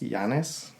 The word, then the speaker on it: Janus: So Janus, I don't know if a lot of people are familiar with him. I've also heard it pronounced Janus.